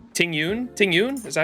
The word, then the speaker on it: Tingyun: you say her name I wanted to say tiny gun that is definitely Ting Yun tingyun is that how